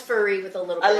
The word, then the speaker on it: Furry: think my name is Fury, which I am half the Fury, but it actually is pronounced Furry with 2 R's.